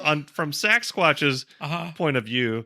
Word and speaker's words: Saxsquatch: especially since I've learned how to say it, Saxsquatch.